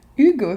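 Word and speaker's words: hygge: voilà donc euh donc le H qu'on qu'on prononce un peu et puis le y c'est le son u euh en danois donc c'est hugux d'accord intéressant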